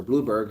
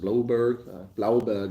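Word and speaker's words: Blouberg: Rebecca can't wait to meet in Blauberg, or Blueberg, however you guys pronounce it. Blauberg is how I'd pronounce it. Of course, that's German.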